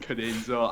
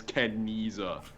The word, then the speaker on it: Cadenza: also in that video, I mispronounced Cadenza. I misread it as Kenniza.